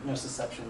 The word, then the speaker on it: nociception: prevention of pain would be I think it's pronounced nocip. Nociception. Nociception, there we go.